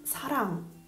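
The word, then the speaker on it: 사랑: Invece suona come n, n, che si trascrive ng, perché non è una n, ma ha un piccolo suono come ing, ing in inglese. Running, non dico running, è la stessa cosa, quindi è n, che non è una n, quando è alla fine della sillaba.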